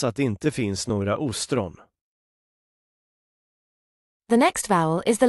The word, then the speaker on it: ostron: The Swedish word for oyster starts with a long pronunciation. Ostron.